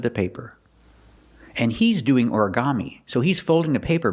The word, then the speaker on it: origami: Put the stress on the first syllable and the third syllable.